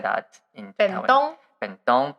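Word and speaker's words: 弁当: Bentong, but in Japanese we say bento.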